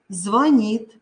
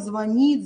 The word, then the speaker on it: звонит: мной постараемся это сделать звонит звонят обратит обратите пожалуйста внимание что в этих словах звонит звонят созвонимся ударение уходит за букву н вот пожалуйста запомните потому что в этих словах очень часто делаются ошибки повторяю звонит звонят созвонимся